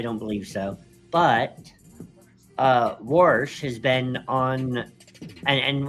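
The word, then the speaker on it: Warsh: But uh Worsh has been on and and when I say wars, I'm not talking about how your grandfather who was born in the 1930s pronounces the word.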